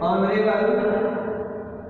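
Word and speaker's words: honour: ठीक है, इसके बाद एन ऑनेस्ट, इसके बाद एन ऑनरेबल, ऑनरेबल guest. Okay, तो ऐसे देखिए कि इनके पहले जो हम एंड का यूज करते हैं। देखिए एक्स साइलेंट साउंड है, इसे हम ऑनर पढ़ते हैं, ऑवर पढ़ते हैं, यहाँ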